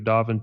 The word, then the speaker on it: Dauphin: thousand dollar incentive incentive rebate for property owners choosing to hire the city of davin to replace their portion of the lead service line am i saying that right or am i saying i'm saying it right right okay good it's just